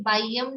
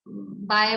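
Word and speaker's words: बाह्यम्: ये बाह्यम शब्द है, बहुत बहुत कम लोग शुद्ध उच्चारण कर रहे हैं इस शब्द का। कोई बाय बोल देता है, कोई तो ब्रह्म बोल देता है, कोई पता नहीं,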